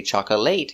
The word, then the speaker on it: chocolate: Remember, 2 syllables. Chocolate. Not chocolate, not 3, 2. Chocolate. Stress is on the first syllable.